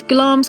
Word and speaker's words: Glamis: sure you don't pronounce it Glamis Castle even though that's how it's spelled it's glams Castle which comes from a